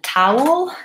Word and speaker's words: towel: towel and tower Tao they both have the same first sounds which we I call that bow ow in IPA it looks like this Tao whoa first I have a dark L there so there's what